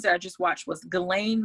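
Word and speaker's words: Ghislaine: i just watched was glenn maxwell and that's her name that's how it's supposed to be pronounced even though yeah spell differently she one of the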